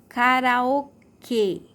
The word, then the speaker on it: karaokê: Agora, aqui embaixo, karaokê, karaokê. O som é fechado e a sílaba mais forte, ó, karaokê.